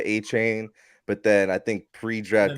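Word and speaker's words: Achane: And remember, bro, didn't he say he wanted his name to be pronounced Achan or Achon or something like that? I've seen Achon, I've seen A-Chain. Like certain, like he told the media, Dolphins media, A-Chain, but then I think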